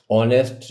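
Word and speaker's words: honest: the word ऑनेस्ट इज ऑनेस्ट शब्द में किसे नहीं बोल रहे तो जो पहला एच है वो नहीं बोला जाता साइलेंट है सो ए इज द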